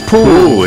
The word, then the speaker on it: pwll: what is it in English how do you pronounce it in Welsh powering up like giving away a ruling whoa and it's pool indeed the Liverpool there's a pool not Liverpool